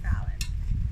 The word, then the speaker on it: Falynn: For those of you who are wondering, it's pronounced like Jimmy Fallon, but minus the Jimmy, just Fallon.